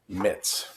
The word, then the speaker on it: Mitz: his name young allen it rhymes with fritz young alan mitz as soon as miss